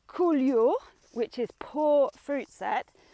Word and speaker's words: coulure: very simple to pronounce cool you'll which is poor fruit set just go cool as in I'm really cool or my vines are really cool cool okay here you